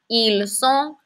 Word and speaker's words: ils sont: Remember, T's at the end of French words are generally silent. Ils sont, elles sont, they are.